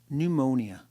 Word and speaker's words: pneumonia: poor Bob's got pneumonia pneumonia a silent pee number one avoiding direct